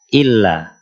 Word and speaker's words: illa: salah itu contohnya lafaz illa n lafaz illa kadang ada orang yang membaca illa Nah harus ditekan saja Illa Illa ada juga yang